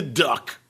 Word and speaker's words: DUK: out there in the Duck, a.k.a. Duke Energy Corp., ticker symbol DUK. Supposed to be pronounced Duke. I just like calling it the Duck because it sounds funnier.